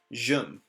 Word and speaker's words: jum: Jum. Jum. Jum. Jum. There you go. Kind of like the word could, should, jum. It's that vowel sound.